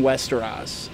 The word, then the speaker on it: Westeros: Religion plays a huge role in Westeros. Is that how you pronounce it?